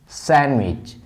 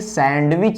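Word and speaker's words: sandwich: तो ऐसे हमारे वर्ड हैं सैंडविच। इसको कभी भी सैंडविच नहीं पढ़ते, सैंडविच।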